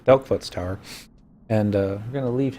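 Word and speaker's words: Delkfutt's Tower: I'm gonna dunk dent into I always mispronounce it. I used to call it Dipshit's Tower, but it's Delkfoot's Tower.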